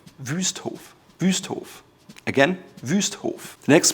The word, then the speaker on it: Wüsthof: A lot of Americans call it Wusthof, but it's actually called Wüsthof. Wüsthof. It's Ü, it's the umlaut Ü, Wüsthof.